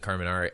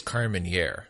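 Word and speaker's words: Carménère: speaking of pronunciations and Carmen Ari I think that we've been saying it wrong I think it's Carmen here yes I think Jackson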